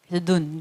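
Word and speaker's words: נ: 보통 이렇게 직선 으로 쓰니까 , Nun, 즉 'n' 발음 이죠 , Nun.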